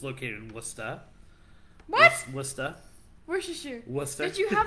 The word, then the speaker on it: Worcester: Worcester. Worcestershire. Worcester. Don't you have a sauce that's pronounced like Worcestershire?